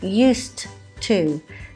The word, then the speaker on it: used to: Note the pronunciation, used to. You can hear a t sound instead of the ed as it's spelt, and the to is more of a used to play tennis. It's very unstressed.